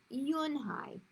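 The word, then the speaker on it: Eun-hye: Yes, it's pronounced Yunhai. Yunhai, Joey said slowly, and this time perfectly.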